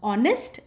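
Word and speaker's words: honest: is silent there is no sound of एच इन the words ऑनेस्ट एंड आर मैंने क्या बोला नेस्ट एंड हार नहीं है ऑनेस्ट एंड आर है दीज वर्ड्स स्टार्ट विद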